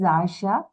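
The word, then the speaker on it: आशा: own asha is it the pronunciation is asha Asha nashi right so Asha yes okay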